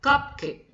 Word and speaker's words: cupcake: Both syllables are stressed. You're not gonna say cupcake or you're not gonna say cupcake. You do not say that. Instead, you're going to stress both syllables.